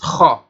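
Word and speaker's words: خاء: You have to show some form of scraping in your pronunciation of that very letter. So it is the one like Ha, when then it has a dot.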